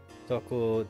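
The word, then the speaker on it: Tōko: need to he out it's pronounced Toco dashed over to toco's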